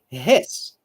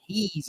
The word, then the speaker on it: his: Here we say his, okay, his, not he's, okay, it's his. Very short e here, his.